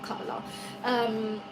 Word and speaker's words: Kamala: All those women you see out there, like Michelle Obama, the Kamalas, how you say it, Kamala, not Kamala.